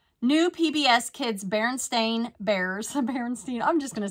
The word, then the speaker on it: Berenstain: purchased these Berenstein okay I always thought it was Berenstein but I think it's Baron stain I don't know I think I've always said it wrong Bears plush family toys